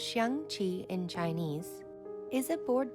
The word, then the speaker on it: Xiangqi: Chinese chess, pronounced Xiangqi in Chinese, is a board game sometimes also referred to as elephant chess.